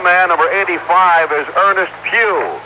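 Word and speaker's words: Pough: he is the number three center for the Pittsburgh Steelers and the other man number 85 is Ernest Pugh it's p-o-u-g-h but pronounced as the Pew in church this being Sunday 10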